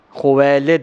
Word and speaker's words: خویلد: کا اسم گرامی کہ اکثر حضرات ان کا نام لینے میں غلطی کر دیتے ہیں، لیکن میں چاہوں گا کہ صحیح تلفظ بتا دیا جائے۔ آپ کے والد کا اسم گرامی خویلد ہے، خدیجہ بنت خویلد ابن